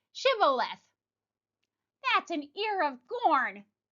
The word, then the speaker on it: shibboleth: For the first consonant was mispronounced, the SH versus the S. In the Ephraim dialect, the Ephraimites dialect did not contain any sound of an SH. So those who pronounced the word Sibboleth were identified immediately as Ephraimites and killed.